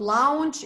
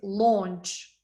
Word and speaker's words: launch: can install it's install this one launch it's not lounge it's not lounge its launch Zappos services services it's